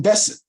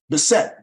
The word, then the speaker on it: Bessette: F Kennedy Jr Weds Carolyn Caroline Carolyn Carolyn Besson Bessette that's how you pronounce it present and they got married in